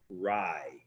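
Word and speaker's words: raj: the clean sweep here your last word is spelled r a j and it's pronounced rye is rye number one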